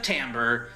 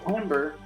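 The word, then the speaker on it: timbre: Jay, you're bringing in the correct pronunciation of tambber. All right, that's fair. No, I appreciate it. I appreciate it. That's how it's said cuz it's music. It's tambber.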